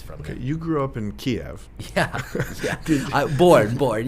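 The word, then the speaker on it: Kyiv: excuse me everyone um you have been pronouncing our city incorrectly it isn't kiev it's kiev and in my head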